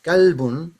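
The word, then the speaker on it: كلب: Kalbun is a dog. Qalbun is a heart.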